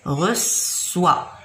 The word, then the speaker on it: reçoit: reçoit. او اي تنقرا و. هذه او اي نقراوها كيفاش؟ و او اي. اذا reçoit.